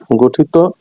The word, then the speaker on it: গঠিত: স্বীকারণী অন্তস্থ ও বরণীয় নাম্বার চার তত প্রত্যয় যোগে গঠিত বিশেষণ শব্দের শেষে অচ্চারণে ওকারান্ত হয়ে থাকে যেমন হত হ তত হত বানান হ তকারে ত ত এর মধ্যে ও এর মত উচ্চারিত হয়েছে গত গত ত গত